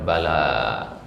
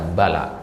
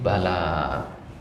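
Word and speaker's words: بلى: kalau di al-qur'an sendiri bala ini bacanya panjang ya dua harakat ya bala ya bukan bala tapi bala BAB ya ini tentang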